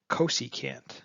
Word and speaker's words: cosecant: of sine x is actually cosecant is how you say it which is csc and